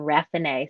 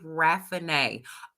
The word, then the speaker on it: Raffinee: up y'all i'm that's how you say my name rafinay so think renee but okay the e's on the end give you the a yeah so renee raffinay okay okay yes honey